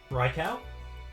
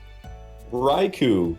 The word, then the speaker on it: Raikou: Raikau? No. Uh-oh. No. Oh, did I say it wrong? Raikou. Oh, well there you go. It's like erase the first R and A and put an H there.